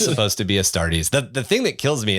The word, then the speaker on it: Astartes: together i i know it's supposed to be astartes the thing that kills me is i can